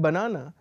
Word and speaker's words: banana: The word banana basically has, which is the stress? So just look at this, banana. So na, basically the second syllable is the one that is stressed, and the third and the first are slightly less stressed. Okay, whereas Panama, basically the first syllable is stressed and the second and the third syllables are not stressed.